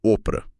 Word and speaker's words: Oprah: Ela deveria se chamar Orpah, da Bíblia. Só que ninguém pronunciava certo, e o erro pegou, virou Oprah.